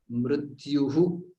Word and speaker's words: मृत्युः: So there it is, jatasya hi dhruvo mrityuhu. So there is a visarga which has to be pronounced. That mrityuhu dhruvam. That visarga is what makes it mrityur dhruvam or dhruvam.